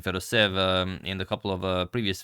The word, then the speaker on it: Fedoseev: Sorry about mispronouncing Fedoseev in a couple of previous videos, but I was originally pronouncing it Fedoseev and then someone sent me an email saying it was actually Fedoseev, and I trusted them,